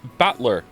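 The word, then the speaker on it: Battler: And it's pronounced batler.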